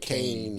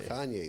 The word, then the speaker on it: Kanye: I used to say it wrong. You say like Kane and stuff like that. But now, you know Kanye is Kanye.